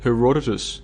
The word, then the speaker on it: Herodotus: I was calling it Herodotus, and there were a number of people like, it's not pronounced that way, it's pronounced Herodotus.